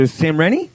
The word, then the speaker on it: Samreny: Well, we have the beautiful Samreny.